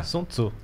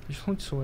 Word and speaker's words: Sun Tzu: É. Sun Tzu. Sun Tzu é a pronúncia.